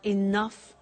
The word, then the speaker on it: enough: but she doesn't have enough money? Now, this word enough, it's written E-N-O-U-G-H. The pronunciation is enough.